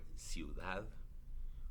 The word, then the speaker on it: ciudad: That's one syllable, bui. Or ciudad, city, right?